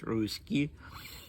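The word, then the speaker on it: Ruzsky: So Ruski was an important figure. It's not Ruski as in a Russian person. It's a different spelling, but it's pronounced Ruski.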